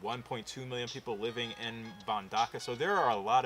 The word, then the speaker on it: Mbandaka: It's not as easy as saying Wakanda, but it's got a lot of the same letters, but it's Mbandaka.